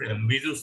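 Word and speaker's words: Bézout: The pronunciation is Bezout.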